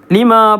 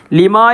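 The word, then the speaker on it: لِمَا: ലിമ എന്നാണ് പറഞ്ഞത്, ലാമിന് ഷദ്ദുണ്ട്. ഒരായത്തിൻ്റെ തുടക്കത്തിൽ ചില വാക്കിനൊക്കെ ചിലപ്പോൾ ഉണ്ടാവും ഷദ്ദുണ്ടാവും. ആ ഷദ്ദ് നമ്മൾ തുടക്കത്തിലാണെങ്കിൽ ഉച്ചാരണത്തിൽ വരികയില്ല, ആ ഷദ്ദ് ഒഴിവാക്കിയിട്ടാണ് ഓതേണ്ടത്.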